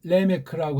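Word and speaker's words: Lamech: 라메크를. 이게 4장 18절이에요. 여기 쭉 보면 이제 라메크, 즉 원래는 레메크라고 하는 발음, 이게 정확하겠죠?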